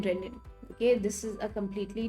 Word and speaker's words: renin: It's pronounced the same way and not the single N renin.